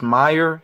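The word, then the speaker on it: Meijer: in my area I I think it's pronounced Meer if I'm saying that wrong somebody correct me but it's m e i j e r I'm not familiar with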